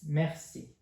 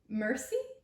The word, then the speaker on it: merci: It's merci. Mercy? That's close, but not quite right. It's merci. Merci. I'm afraid that's not quite right either. Try again. It's merci.